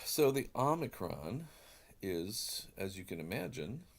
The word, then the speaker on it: Omicron: two words in there ah being this short o sound and micron is a word for short so the short o is the Omicron and I prefer to pronounce that as the Omicron some people choose to pronounce it as an O sound but I prefer to keep that for the the Omega and you can hear o mega the long Omega oh but this is the